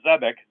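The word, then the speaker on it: xebec: xylophone you're wrong though it was this a zebic also spelled with a z but apparently x-e-b-e-c is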